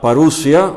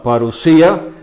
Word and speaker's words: parusía: A veces lo llamamos la parusia, o algunos lo pronuncian la parusía de Cristo.